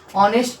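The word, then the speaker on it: honest: ही हमारा मतलब है देखिए ऑनेस्ट है एच आपका साइलेंट होता है यहां एच आपका क्या होता है साइलेंट होता है तो ऑनेस्ट नहीं पढ़ते हैं ऑनेस्ट नहीं पढ़ते ऑनेस्ट पढ़ते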